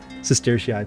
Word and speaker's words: sestertii: The bucks, by the way, are called Sestertii, which when I was doing the video for this, I had to look up how to pronounce that. Sestertia single, Sestertii plural.